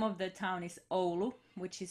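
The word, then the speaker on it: Oulu: finland uh the name of the town is olu which is spelled o-u-l-u and um it's something like 160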